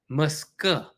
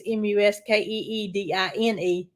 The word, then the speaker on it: Muscadine: Muscadine. Muscadine. Muscadine. I believe is how you spell it. Mm-hmm. And the way we say it, it sounds like it's Muskeedine. But that's not it.